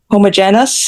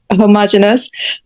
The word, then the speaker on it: homogeneous: Homogeneous, is that how we pronounce it in Jamaica? Yes. Or in America, say homogeneous, that it was just this one thing.